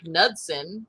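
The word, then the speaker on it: Knudsen: whose real name is eric nudsen spelled with a k a silent k uh posted two photos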